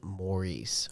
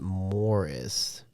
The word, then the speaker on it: Maurice: Yeah, I believe that most Americans would pronounce the name Maurice. However, they all pronounced it Morris. The way that Americans would pronounce the name Morris.